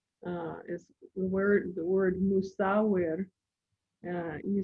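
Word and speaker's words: musawwir: m-u-s-a-w-w-i-r and it's pronounced musa the last part of it could be a rolled r just softly or just say it like a regular r and that means fashioner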